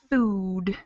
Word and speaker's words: food: the first one exactly the first one is kind of a longer ooh sound instead the other ones are shorter uh like good book not food but these are tricky